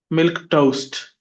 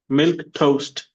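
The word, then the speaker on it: milquetoast: If you remember that example, she put about milk toast. Milk toast. Two syllables. The stress is on milk.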